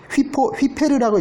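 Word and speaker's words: ὑπέρ: 하이퍼는 이제 휘페르라고 읽어요. 헬라어로는.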